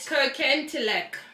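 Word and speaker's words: Kirkintilloch: Kirkentilock. That's how it's pronounced.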